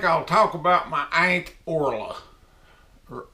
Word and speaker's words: Orla: Today I think I'll talk about my Aunt Orla, or Orly we call her. I think the proper pronunciation of her name is Orla.